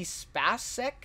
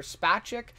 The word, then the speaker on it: Spacek: Some amazing acting by, I believe you pronounce it Sissy Spacek, or Spacek.